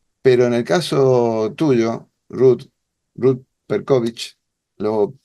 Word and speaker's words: Ruth Percowicz: la tradición hebrea, pero en el caso tuyo, Ruth Perkovich, lo pronuncio bien, Ruth, ¿no?